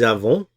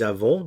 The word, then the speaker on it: avons: Nous avons, we have. Nous avons, notice the pronunciation here at the end.